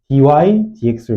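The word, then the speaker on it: dy/dx: 이게 어이 좀 뜯어 보면은 읽을 때는 뭐라고 읽냐면 dydx로 읽습니다.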